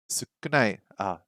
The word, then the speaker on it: 少ない: 少ない、 Sukunai.